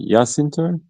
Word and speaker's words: Jacinto: It is a J, so it's a Y. Jacinto. Cinto, yeah, I guess so. I got to take Spanish classes. It's a Y. I thought it was a W.